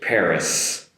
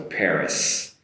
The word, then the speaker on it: Paris: In English it's Paris Paris with an “s” sound at the end so be careful there not to finish with an “e” and like in Japanese so Paris Paris and one more